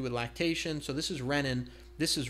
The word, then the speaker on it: renin: has to do with lactation so this is renin this is rein with a long e and rein is something